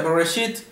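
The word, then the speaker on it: בראשית: Como Génesis aprendimos que se pronuncia Bereshit en el comienzo, relacionado con la primera frase del mismo libro.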